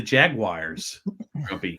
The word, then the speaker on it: jaguars: maddy and the jaguars i hate when people pronounce jaguars jaguars it just means they're very limited mentally you don't want to think of an eye in jaguar you know what i think it